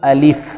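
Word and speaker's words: ألف: سے اور فا سے۔ اس کا درست تلفظ الف ہے، الف۔ دوسرا ہے با۔ با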